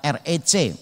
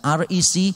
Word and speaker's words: RECC: Exodus community atau disingkat recc bacanya tapi bukan keingris-ingrisan recc tapi rec nah biasanya orang kalau